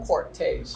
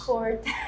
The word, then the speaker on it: Cortez: Cortez or Cortez? Cortez. Who is It's an R. An R. There's an R in it. Yes, yeah. but I don't pronounce this R.